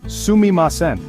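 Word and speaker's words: すみません: The first word you should learn that's pronounced sumimasen.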